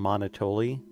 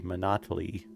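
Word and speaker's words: Monotoli: mr monito but not i used to call him monotoly which isn't an unreasonable pronunciation but i was informed at some point that it is a play on monopoly so i think it's supposed to be monotony hello baby face what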